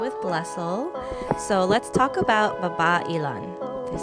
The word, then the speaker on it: Babailan: So let's talk about Babailan. Did I say it right? Babailan.